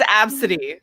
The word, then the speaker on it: Abcde: Well, that's like the person that named their daughter Absidy and then she couldn't get her daughter's passport approved because it's spelled ABCDE.